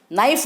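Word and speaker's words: knife: जैसे रोमन लिपि में नाइफ लिखते हैं, के का उच्चारण नहीं है, के से शुरू होता है लेकिन के का कोई उच्चारण नहीं है, उसे नाइफ बोला जाएगा।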